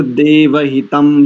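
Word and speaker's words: देवहितम्: प्रथम जो है ना त चुर देव हितम यहां पर मकार उच्चारण करेंगे क्योंकि आगे पकार है जी ठीक है देव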